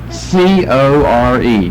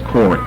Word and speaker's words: Core: C-O-R-E, Core. Well, here's what the Greek is here. The short O, so it's not a long O. It ends with a short E and not a long E.